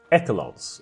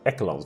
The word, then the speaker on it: echelon: again I mispronounced it I always had it as echelons for some reason but it's echelon of our governments to